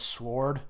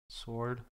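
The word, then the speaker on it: S.W.O.R.D.: it SW sword sword sword yeah I don't I don't pronounce the W at all but I don't know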